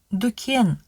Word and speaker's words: дүкен: Ребята, слово, которое пишется «дүкен», с точки зрения литературного казахского языка лучше произносить «дүкен».